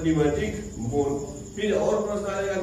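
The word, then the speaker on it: pneumatic: क्या कहते हैं, न्यूमैटिक बोन। पी साइलेंट है, न्यूमैटिक बोन, क्या कहेंगे उसको, न्यूमैटिक बोन।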